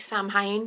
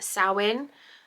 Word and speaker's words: Samhain: So it's spelled Samhain. It looks like Samhain, but I've googled and asked people, and I've been assured that it's pronounced Samhain.